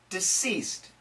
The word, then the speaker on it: deceased: there's also a difference in this case we say s and here we say Z why don't we just change the C to an s and the S to a Z so once again the